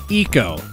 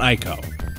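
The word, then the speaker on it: Ecco: controversial game of all Eco that's right Eco not IO well that brings us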